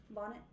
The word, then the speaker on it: Bonnet: Bonnet.